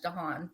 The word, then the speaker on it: Dahan: gave it to the the Scottish my last name it's pronounced in French danan is a French